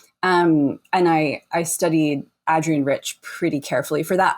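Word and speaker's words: Adrienne: I I learned that she's called Adrian like the a is and hat by going to the archives and reading her say in an interview you pronounce the a in my name like hat and I never had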